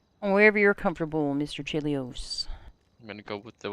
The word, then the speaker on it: Chelios: there we go there we go uh Mr chilios is that how you pronounce your name yes ma'am uh what's your